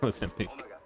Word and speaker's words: Mozambique: No, it's Mozambique.